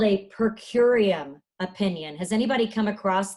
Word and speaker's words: per curiam: It was called a per curiam opinion. Has anybody come across that ever in reading anything about SCOTUS, per curiam?